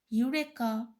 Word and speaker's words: eureka: Words such as eureka, one, unique are pronounced with consonant sounds, though they begin with the vowel letters E, O, and U.